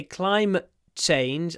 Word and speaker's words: climate change: climate change climate change when I say climate change I use a glottal stop because I have the T in climate before a consonant climate change climate change